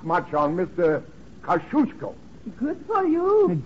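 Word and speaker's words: Kosciuszko: young lady T is kushko how's that very good you say it like you're going to sneeze and you got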